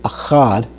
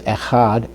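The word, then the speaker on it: אֶחָד: So we see the Segel under the Aleph, which gives us the sound. Okay, and then it's followed by the Het with a Kamatz under it, which gives us the A sound, followed by the Dalet.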